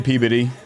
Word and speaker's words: Peabody: Yeah, I mean, the locals say Peabody. Right. Peabody. You could tell when you're saying that you're not from there.